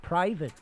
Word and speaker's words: private: Collect the letters of the word private in the proper order. Remember the E is silent.